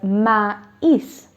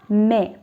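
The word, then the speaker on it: maïs: vowel in the word okay and i will pronounce it as ma is not me or mess now if you remove axon three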